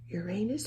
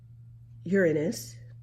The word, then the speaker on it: Uranus: right Jupiter Saturn you're Uranus or Uranus whichever way you'd like to pronounce it and Neptune okay let's